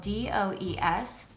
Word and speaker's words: does: interesting one it's spelled d-o-e-s and it can be pronounced two different ways the first way you